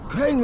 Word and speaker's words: Crane: my name is crane crane rhymes with train and brain and sang and grain